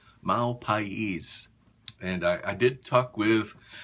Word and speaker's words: Mal Pais: It's pronounced Mahl-Pa-eees.